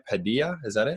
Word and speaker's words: Padilla: Padilla, is that it? Padilla.